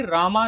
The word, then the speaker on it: रामा: संस्कृत में राम को रामा लिखा जाता है और पढ़ा भी रामा जाता है, इसीलिए जब इसे इंग्लिश में लिखोगे तो रामा लिखा जाएगा। And this is a right and formal way to pronounce it. Simple राम बोलना इनफॉर्मल हो जाता है।